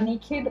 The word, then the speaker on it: Nykd: So in today's video, you read the title already, we are going to do a Naked by Nykaa haul. So it's spelled N-Y-K-D, but I'm supposing it's pronounced naked.